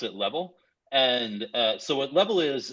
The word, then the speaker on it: LVL: like what what is LDL which we often pronounce it level and so what level is is a mobile